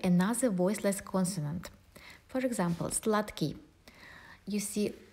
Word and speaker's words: сладкий: You see, d is voiced consonant and k is voiceless, but we cannot say сладкий because k will influence d. That's why instead of d we will pronounce t, сладкий.